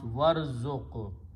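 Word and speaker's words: وارزق: Waw means and, so you pronounce warzuq.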